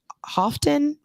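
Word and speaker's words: Houghton: guess is I guess is pronounced um often maybe it's in um Mi is Michigan right sure I think yeah I think so I think it's often it's h-o-u-g-h-t-o-n um it was an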